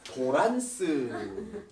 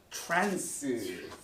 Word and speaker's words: 트랜스: 그걸 갖다가 도란스. 란스라고 하는데 이게 알고 보니까 트랜스. 너무 발음이 달라.